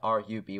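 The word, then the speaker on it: RWBY: this song right here it's not spelled ruby it's our wby if you've watched the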